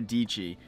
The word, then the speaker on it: Deechi: concept I heard from Sara deechi rhymes with peachy you might have seen